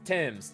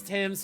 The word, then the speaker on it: Thames: Now, it's pronounced Thames. Yeah, I know it's Thames, just I always want to add the H, and I don't know why.